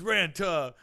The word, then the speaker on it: Ranta: but it was like name's ranta it rhymes with Santa and there was like